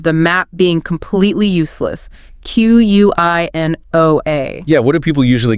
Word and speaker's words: quinoa: It originates from Ketwa, you know, the language spoken in the Andes. It came into English via Spanish. So, it follows none of the typical English spelling sound rules at all. The nugget here is some words are pure imports and you just have to learn their sound by listening. Don't trust the spelling. So, for quinoa, trust your ears, not your eyes.